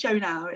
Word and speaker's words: Shonagh: So, and I did say it's Shonagh, isn't it? Yeah. I'm saying it right.